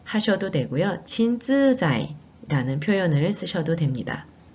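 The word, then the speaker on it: 鎮痛剤: 진통제는 우선 친쯔자이라고 일본어로 표현합니다. 같이 발음해보세요. 친쯔자이.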